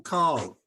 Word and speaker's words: Kerr: a great question ah so it is actually car that's how it's always been pronounced but when I became a counselor I decided it would make everyone's life easier if I pronounced it Kerr and so I mostly pronounce it Kerr and everyone mostly calls it Kerr but occasionally I forget because I did spend 42 years calling it car so you know it